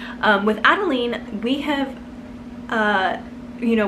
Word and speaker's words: Adeline: probably pronounce her name adeline and i was like i know but i really love the pronunciation adeline which is more french and um so anyways